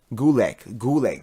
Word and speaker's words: Gulak: Gulak. There we go. I don't know why I spaced on that. I don't know why. But we have Drew Gulak.